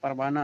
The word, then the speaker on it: پروانہ: جیسے کوہ، راہ، سیاہ۔ ہائے مختفی جو لکھی جاتی ہے لیکن نہیں پڑھی جاتی ہے، جیسے پروانہ، سلطانہ۔ یا کی 2 قسمیں